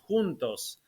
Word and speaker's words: juntos: Yes, I have been heavily involved in an organization called Juntos, of which I am a founding board member. Juntos means together in Spanish, Yeah. and if you pronounce it properly in Portuguese, juntos, it also means exactly the same thing, together.